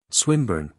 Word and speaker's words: Swinburne: Swinburne, he repeated, with the same mispronunciation. The poet. Swinburne, she corrected.